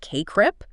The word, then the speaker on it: CACREP: It's a core idea in the latest CACREP 2024 standards that's pronounced CACREP.